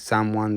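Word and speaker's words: Samwon: a lot is someone it's spelled like Sam one but it's someone restaurant and uh it's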